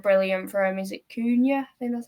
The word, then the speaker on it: Cunha: Is it Cunha? I think that's how you pronounce it. Hakuna Matata. Cunha.